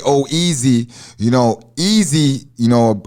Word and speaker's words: Oeze: cause it's like uh it's pronounced oh easy but the way it's spelled it don't look like easy some people say oh s or uzi i thought it was zoozy a lot of people